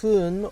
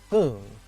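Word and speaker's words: 分: the kanji for minutes it's pronounced as hun or boon which means the minutes the reason that it's not exactly the same is because it depends on what number that you're putting before it and it may change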